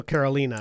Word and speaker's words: Carolina: We're just gonna it's because it's not like the state. So Carolina, not Carolina. Carolina.